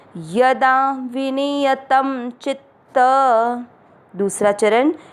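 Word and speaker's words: विनियतम्: य में वापस अमिक्स करना, विनियत, शब्द पूरा होने के बाद त पे अनुस्वार आधा म, विनियतम।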